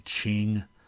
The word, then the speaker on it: Qing: during the time of the qing dynasty that's how you pronounce that q by the way in in pinyin transliteration of chinese the qing dynasty and